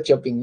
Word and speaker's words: Chopin: Bueno, se escribe Chopin, ya, pero no se pronuncia Chopin, no se escribe, se pronuncia Chopin, ya, Federico Chopin.